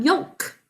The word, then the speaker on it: yolk: So our sounds are y, o, ul, k, for sounds. Basic code. That ul is silent, but we're thinking of it being there. Please sound out yolk.